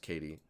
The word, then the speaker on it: Kejti: person is uh Katie it's actually written in the most unique way I've ever seen but pronounced Katie I like it it's